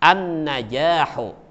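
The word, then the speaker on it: النجاح: Apakah terdengar bunyi lamnya? Tidak terdengar.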